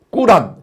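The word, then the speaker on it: قرآن: 우리는 성경을 보지만이 사람들은 코란 발음 그대로 하면은 꾸란 꾸란을 믿지요.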